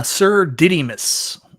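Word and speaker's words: Sir Didymus: say his name Mike what is it uh sir didus yeah there you go God um you got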